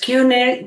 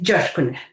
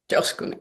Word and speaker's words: Coskuner: un apellido turco, la gente no lo sabe pronunciar, entonces me dicen Kuner, Josh Kuner, pero sí en turco es Josh Kuner. Josh Kuner y es o.